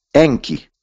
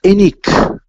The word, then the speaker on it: Enki: Avevamo Enlil e Eni, Enki, che poi la K in quella lingua preaccadica non si pronunciava. E quindi era Enik. Non pronunci la K e viene fuori Eni.